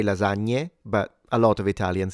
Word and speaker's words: lasagna: It is more correct to say lasagna but a lot of Italians say lasagna. When it comes to the GN, depending on the region, it might sound stronger or lighter.